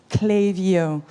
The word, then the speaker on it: Klaviyo: from Ukraine Sweden Netherland France UK and it's pronounced clayo yes last week I was in France at